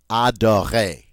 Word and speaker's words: adorer: Whenever we talk about verbs, if the verb ends in ER, all right, the ER is pronounced A. We don't pronounce the R. We just say A. Adorer.